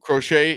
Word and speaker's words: Crochet: with today he goes uh crochet is how you say it yep crochet eight strikeouts